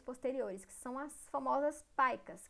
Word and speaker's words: PICA: que são as famosas paicas, que se escreve PICA, mas a gente pronuncia paica.